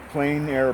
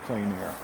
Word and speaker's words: plein air: outdoors it's called it's a french term uh plain air painting it's spelled p l e i n a r i'm sorry a i r e and um it just means painting outdoors in plein air um and when you chose this location today